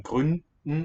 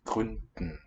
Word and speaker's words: Gründen: The D there in Gründen and also I think in Verständnis should be a voiceless one. Because it's underlyingly in a coda. Okay. Verständnis, Gründen.